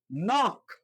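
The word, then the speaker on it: knock: নক, খে এন ও সি খে, নক। নক অর্থ হচ্ছে টোকা দেওয়া। এখানে দেখেন খে বাদ দিয়েছে, থেকে রিমুভ করা হয়েছে, তাহলে এখানে উচ্চারণটা নক হয়েছে।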